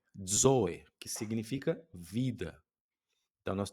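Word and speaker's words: ζωή: Zoe, zoe, que significa vida. Então nós temos aí o zeta. Não é tão difícil de pronunciar a letra Z, né? Mas começa como se fosse um D, né? Zo.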